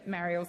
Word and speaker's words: Marielle: Senator Marielle Smith, please continue. I would love to. It's Marielle. Senator Henderson, through the chair, through you, Chair. That's how you say my name.